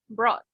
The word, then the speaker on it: brought: Okay, so in the past, we don't pronounce the U. So how do we pronounce it? We say Bro. Listen, brought.